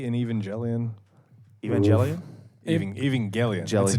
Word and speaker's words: Evangelion: Did you just put the J in Evangelion?